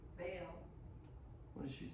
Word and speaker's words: Vail: You say Vado? Vail.